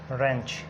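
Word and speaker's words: wrench: इन examples पे गौर करें तो W के बाद जब R आता है W साइलेंट हो जाता है, या W के बाद अगर कोई H आ जाता है तो भी W साइलेंट होता है।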